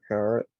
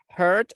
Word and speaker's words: heart: Hurt like dolor. Heart. Heart. Heart. Very good. Be very careful because if you say hurt, you're saying like dolor.